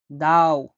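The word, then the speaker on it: ضوء: দাও। দাও। দাও মানে আলো। দাও মানে আলো। দাও মানে আলো। পরবর্তী বর্ণ হলো তোয়া। তোয়া। উচ্চারণটা তো হবে। একটু গভীরভাবে বলতে হবে।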